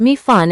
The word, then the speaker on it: mei fun: The Mei Fun part simply refers to the thin rice noodles, mi fen, pronounced mi fun in Cantonese.